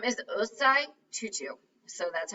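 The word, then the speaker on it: Osei Tutu: his right here yeah um his name is ozai tutu so that's how you pronounce that tutu is actually a common african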